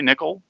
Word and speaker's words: Nicol: who is Nicol it is that how your name is pronounced by the way nickel nickel yes I am its Pittsburgh